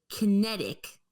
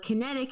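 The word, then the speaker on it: QinetiQ: which is operated by Kinetic, but Kinetic is spelled Qinetic, Ooh.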